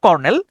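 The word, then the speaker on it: colonel: উচ্চারণটা হচ্ছে lieutenant কর্নেল কর্নেল উচ্চারণটা হচ্ছে কর্নেল কিন্তু আপনি যদি স্পেলিংটা দেখেন সেচ সি ও এল ও এনই এল উচ্চারণটা হয় হচ্ছে কলোনেল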